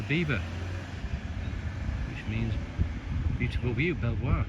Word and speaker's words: Belvoir: Belvoir from the Norman Norman French, but the locals can't pronounce it and they call it Beaver.